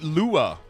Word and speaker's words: Lua: You're saying LUA. I've always said LUA. I've never said Lua. Nobody told me that it was Lua.